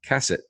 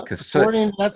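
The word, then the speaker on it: Cassutt: about this aircraft, but it's actually pronounced Cassette, according to you, or the Cassut, as I grew up. Told me so. Okay, the Cassette Aircraft, which is a mid-wing or low wing.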